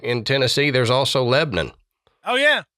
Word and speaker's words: Lebanon: in Tennessee There's also Lebon oh yeah it's not Lebanon even though that's how it's spelled it's Lebon so yeah all right